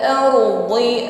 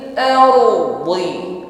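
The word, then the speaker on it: الأرض: Kalau ardi tipis, ringan pengucapannya, masuknya huruf dal. Dadi. Ya. Kalau dha dhi bukan ardi tetapi ardi. Pengucapan dha mempertemukan hafatul lisan, ya, lidah bagian samping menekan pada gigi geraham atas, boleh sebelah kanan, boleh sebelah kiri, ya, fokus pada lidah samping bukan ujung lidah.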